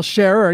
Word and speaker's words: Scher: But the other day when I DM'd you about the comment, I was like, it's pronounced share, right? And you said, well, sharer.